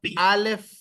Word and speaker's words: Aleph: Pronuncien conmigo Aleph.